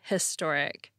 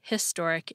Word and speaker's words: historic: it should be a historic event here's my reasoning most people pronounce the H in historic and there's nothing special